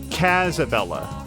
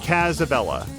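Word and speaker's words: Kazabella: isn't how it's pronounced the a sound should be shorter like the British pronunciation so cazabella then just just thumbs up cazabella because I think that's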